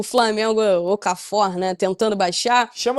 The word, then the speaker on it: Okafor: Assim pronuncia Okafor. Você falou Okafor. muito bem o assim, sotaque ali.